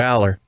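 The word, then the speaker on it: Allar: what it was interesting so it's allergy because it's alar and no no tyler drew aller and was in the pronunciation guide too for the uh the rosters as aller yeah yeah because that's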